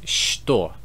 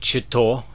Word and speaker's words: что: of pronunciation exception because it's written with a ch, but it's pronounced with a sh. So it should be что, which just sounds really weird. No one pronounces it this way, they pronounce it like a sh sound, so it's kind of a weird exception.